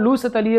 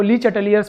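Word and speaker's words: Le Chatelier: इट is called लू सतलीय principal, है ना। इसको आप लोग गड़बड़ प्रोनाउंसिएशन करते हो, ली चटलियर्स principal, but इट is exactly लू सतलीय प्रिंसिपल।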